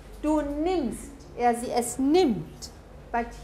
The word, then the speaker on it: nimmst: Here you have a double M, so you have a short vowel. Du nimmst.